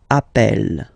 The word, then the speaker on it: appelle: You tend to pronounce it like really open. That's the reason why you pronounce it appel, okay?